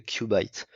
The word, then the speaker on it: Qubit: parler de ce modèle Cubite, que je vais prononcer à l'américaine parce que prononcer à la française, le nom est un petit peu vulgaire, disons.